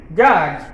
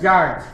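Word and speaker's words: judge: এখানে উচ্চারণটা দেখো, জে ইউ ডি জি ই, জাজ। ডি কিন্তু উচ্চারিত হবে না, সাইলেন্ট থাকবে। যখন তোমরা উচ্চারণ করবে বাংলাতে কি হবে? জাজ, ঠিক আছে? ডিটা কিন্তু সাইলেন্ট থাকবে উচ্চারণ করার সময়, এগুলো দেখে ফলো করতে হবে।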